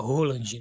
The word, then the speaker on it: Haaland: Nós que falamos Haaland aí, porque muita gente, para não falar o lá ele, né? Então, mas o nome correto, a pronúncia correta é Roland, né?